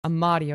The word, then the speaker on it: Amad: Amad I'm a 26-year-old Amad okay that's how you pronounced the last name trans woman that's just